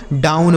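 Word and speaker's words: down: एन से ना नहीं इसे डोन नहीं पढ़ा जाएगा। इसे दोस्तों हम डाउन पढ़ेंगे।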